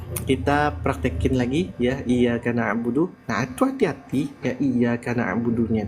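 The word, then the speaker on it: نَعْبُدُ: ainnya itu dapat akhirnya jadi no harusnya na ya Harusnya bukan no oke Bu no nah Insyaallah ya Nah sekarang kita lanjut lagi ya kita prakkin lagi Ya iaka naudu Nah itu hati-hati ya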